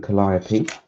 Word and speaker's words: Calliope: um the sherman calliope which i think is how you pronounce it it's have some people pronounce it and i can't think of any other way you would because it's based off the um the pipe organ i think well the